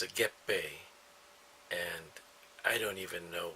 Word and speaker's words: 月餅: word not the Japanese word but the Japanese pronounce a get BAE and I don't even know what the Chinese